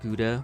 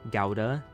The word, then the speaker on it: Gouda: basically my face went English people pronounce it gouda with u sound instead of the standard oh oh I was just talking about this instead of the standard owl as in house which would be the more correct Dutch pronunciation so house gowda what is it